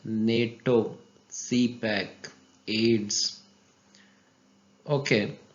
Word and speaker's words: CPEC: इसको हम CPEC नहीं कहते बल्कि CPAC कहते हैं, इसलिए ये एब्रीविएशन नहीं है बल्कि एक्रोनिम है।